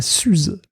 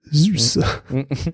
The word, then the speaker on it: Zuse: Pas Suze, Zuse. Ce qui est dur à prononcer d'ailleurs quand on est habitué à parler de la Suze.